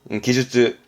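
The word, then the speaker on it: 技術: 발음은 토끄기. 토끄기. 특기의 토끄기. 이거 말고도 많았습니다. 기술의 기주츠, 기주츠.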